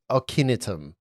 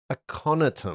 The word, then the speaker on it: Aconitum: So you're you look at it, you make both of you realize it's a flower known as Ocinitum. And Did its you- more common name, Wolfsbane. Can you spell that, please?